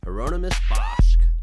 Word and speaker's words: Hieronymus Bosch: Dave here and today I'm going to talk to you about one of my favorite artists, thinkers, and intellectual figures in general, Heronomous Bosch.